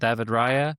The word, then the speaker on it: Raya: Like they do have that defensive flexibility and strength backed up by their belief in David Raya. I'll pronounce it in the way that the Spaniards do, but I think that's huge, and I think that does give them a chance.